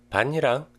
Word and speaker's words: 밭이랑: 밭이랑 is a compound word that combines the words 밭 and 이랑. So there is no palatalization in this case.